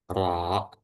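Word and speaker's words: ر: Punggung lidah menempel pada dua gigi seri bagian atas. Nah, bisa kita lihat langsung ke gambarnya. Ro ro ya. R itu yang bekerja adalah lidah dan itu bergetar aja.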